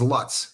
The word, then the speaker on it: Lutz: it a sandwich so loots lizard do you see that my town is Lutz but pronounced loots if you say it wrong the locals correct you so do you say